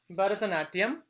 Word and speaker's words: Bharatanatyam: Bharatanatyam, pronounced as Bharatanatyam, is an ancient classical dance form from India.